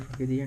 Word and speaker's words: Frogadier: Is it Frogadier?